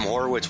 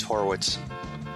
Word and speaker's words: Horwitz: I am Horowitz with one O. Yeah, but you just pronounced it Horowitz. You added the O in the pronunciation. No, I never do. It's always Horowitz.